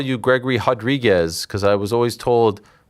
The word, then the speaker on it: Gregory Rodrigues: Gregory. Rodrigues. You got it. Gregory. You have to roll the R there.